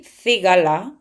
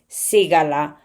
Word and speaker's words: cigala: In Spanish from Spain, we say cigala, but in Canary Island or in America, they read cigala.